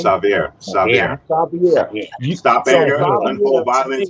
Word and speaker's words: Xavier: And my whole point was seeing that film and seeing and you saying what Sovar am I pronouncing it right? Say it again. The name? Xavier.